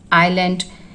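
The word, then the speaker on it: island: Oil, IELTS, आइलैंड, इसमें S silent है।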